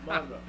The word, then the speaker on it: Monroe: Okay, so stress on first syllable. Monroe.